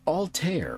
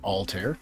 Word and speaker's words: Altair: just after sunset they are vega deneb and altair or altair depending on how you want to pronounce it so you want to look east